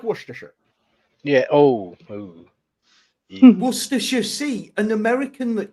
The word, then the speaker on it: Worcestershire: salt salty it's salty it's Umami it's like Worcestershire yeah oh an American that can pronounce it properly well it's sanguine so